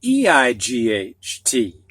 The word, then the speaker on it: eight: these words to you now the silent g-h and e-i-g-h-t and the e-i in this combination sounds like a long a so we start with the word eight and this is a